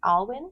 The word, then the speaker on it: Alwyn: Alwyn?